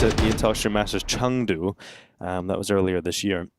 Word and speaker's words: Chengdu: Obviously, in the last time they played each other was at the Intel Extreme Masters Chengdu. That was earlier this year. Chengdu? Chengdu, yes.